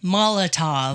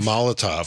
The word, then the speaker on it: Molotov: Molotov. Molotov.